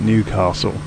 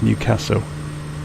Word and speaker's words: Newcastle: isn't it newcastle um the local people of the area will look down their nose at you if you call it newcastle that's a very much a southerner way of pronouncing the name it's newcastle the stress is on the second part and it's newcastle i've